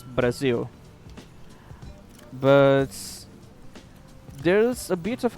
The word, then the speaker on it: Brazil: Basically, Brazil is the name. We just don't use the soft R that English has, so it's Brazil.